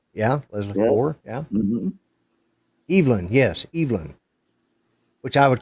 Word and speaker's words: Evelyn: Here we call it Evelyn, but they pronounce it Evelyn over there, and it can be either man or woman.